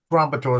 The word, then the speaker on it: Gratitur: Captain, it's it's Gratitur is my last name, but I have on it.